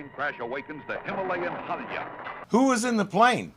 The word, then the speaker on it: Himalaya: a British voice say Himalayas there are some locals who say it that way but the majority say Himalaya and it's usually singular not plural Himalaya not Himalayas so both pronunciations are correct in reality there's a